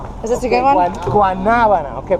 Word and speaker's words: guanábana: Guanábana. Okay, pronounce it guanábana.